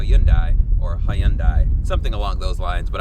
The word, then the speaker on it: Hyundai: do have to say is I'm gonna say Hyundai because that's how US Americans tend to say it but it is technically pronounced how you and I or high-end I something along those lines but I'm not that